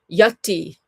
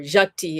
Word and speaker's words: Yati: Yati, or Jati, if you're saying with a Bengali pronunciation.